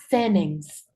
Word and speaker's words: sentence: Yo puedo decir, en vez de sentence, que significa oración, yo puedo decir sentence, obviando la T.